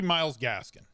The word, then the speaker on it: Myles Gaskin: And it's going to be Myles Gaskin. And not because his name rhymes with Carol Baskin.